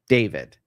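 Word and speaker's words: D4vd: It's spelled D4 V D. David, right? Young kid, probably in his 20s.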